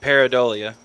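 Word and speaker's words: pareidolia: the illusory correlation and peridolia is that how it's pronounced paradolia yeah yeah so I mean you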